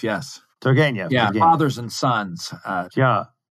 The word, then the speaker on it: Turgenev: compares Dostoevsky and then, how do you say, Turgenev. Turgenev, yes. Turgenev. Yeah, Turgenev. Fathers and sons. He makes this point, pardon my bad pronunciation here, between what he called, as you